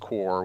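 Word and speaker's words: Qore: It says Core, pronounced Core, was a monthly subscription-based interactive online magazine for the PlayStation Network and replaced the jam-packed series Yep.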